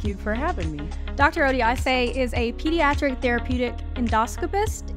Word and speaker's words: Odiase: us today thank you for having me Dr oday is a pediatric therapeutic endoscopist and today we're